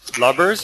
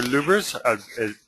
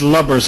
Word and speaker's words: Lubbers: I am joined by the current owner, Eddie Lubbers, or Lubers. It's a Dutch name. I'm sure I pronounced it wrong. Welcome, Eddie. Thank you for joining us. Thank you. It's Lubbers, actually. Dutch.